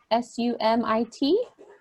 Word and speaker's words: Sumit: It came up as, I'm not going to know how to pronounce it, Sumit, S-U-M-I-T.